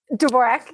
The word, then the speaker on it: Dvorak: I'm hoping I'm pronouncing correctly, Dvorak? Dvorak, yeah. Dvorak, okay, wonderful.